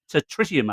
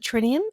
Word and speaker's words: Tritium: What's happened to tritium? I think it's pronounced. Yeah, for some reason, everybody calls it trinium, even though there's an extra T in it.